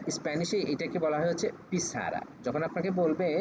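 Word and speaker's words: pizarra: বলব তো এটা স্প্যানিশে এটাকে বলা হয় হচ্ছে পিছারা যখন আপনাকে বলবে যে এটার উচ্চারণ কি হবে তখন আপনি বলবেন যে পিছারা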